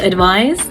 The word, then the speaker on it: advise: take advice so yes there's a subtle difference in pronunciation there ones with this sound the other ones with a z sound but in general it